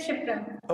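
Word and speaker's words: क्षिप्रा: सर वो क्षितिज वाला शिप्रा है। अच्छा, क्षितिज वाला शिप्रा, तो के साइलेंट है, राइट? नहीं, साइलेंट नहीं है सर, क्षत्रिय वाला शाह है। अच्छा, क्षत्रिय वाला शाह है। तो मैं सही प्रोनाउंस कर रहा हूँ आपका नाम? शिप्रा, इट इज शिप्रा।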